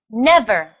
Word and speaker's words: never: This word has the stress on the first syllable, too. Let's say the word together. Never.